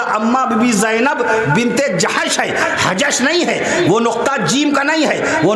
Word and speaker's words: جحش: بی بی زینب بنت جحش ہے، حجش نہیں ہے. وہ نقطہ جیم کا نہیں ہے، وہ نقطہ باقاعدہ جحش، حضرت زینب بنت جحش رضی اللہ عنہ. میں حجش نہ پڑھیے گا، جحش پڑھیے گا.